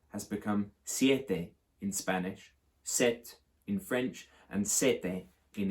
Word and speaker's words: sept: it's in the portuguese there's something curious about the french word four seven set which is that they spell it with a p now that is uh